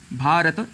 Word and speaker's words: भारत: अ यह ध्वनियां है लेकिन सामान्य रूप से जब हम बोलते हैं तो अक्सर भारत कह देते हैं भारत कहने से त में जो अ है साउंड वह हट जाता है इसे संस्कृत में